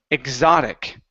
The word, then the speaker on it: exotic: last word is the word exotic okay with the z sound ex exotic exotic good